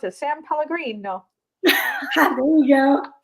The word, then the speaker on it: San Pellegrino: San Pellegrino. There you go. You need the inflection and you got to speak with your hands.